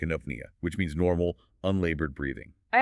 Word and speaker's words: eupnea: And then the letters EU at the start of a word combine to make a U sound, like in apnea, which means normal, unlabored breathing.